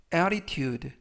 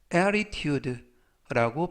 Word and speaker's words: attitude: 뜻이 되겠습니다 2번 표현은 attitude attitude attitude라고 발음하시면 되겠고요 이때 유의하 실점은가 어 앞부분에 있는 알파벳 티티가 부드럽게 트가 아니라 르 르 그래서 보다는 ate attitude라고 발음하시면 좋겠습니다 품사는 명사 뜻은 태도라는